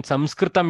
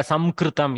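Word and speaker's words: संस्कृतम्: Samkritya, Samkritam. You see, you try to eliminate the sakara, your mouth struggles with the word. Samkritya, some jump from anuswara to kakara is very harsh on the mouth.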